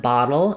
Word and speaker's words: bottle: So let's take a look at battle and bottle and how you say the T sound in these. So both of these have what's called the flap T.